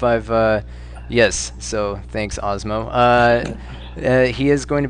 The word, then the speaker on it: Asmo: know for some reason I've always wanted to pronounce that asmo so I guess osmo is is how it's pronounced uh yeah so